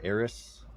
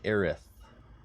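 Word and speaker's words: Aerith: to troll him but there are two camps for ays and Final Fantasy 7 you have the same people who say ays because that's how it's spelled and you have people who say aith aith like they have a lisp not that there's anything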